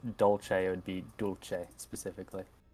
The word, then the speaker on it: dolce: Dolce is Italian, which is why it's got that ch sound in it as opposed to this sound of how her name is supposed to be pronounced.